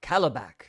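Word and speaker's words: Kalibak: So his son comes over, Calabac, right? That's how you pronounce his Calabac.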